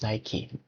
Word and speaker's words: Nike: search it and the pronounce and the correct pronounce is Nike.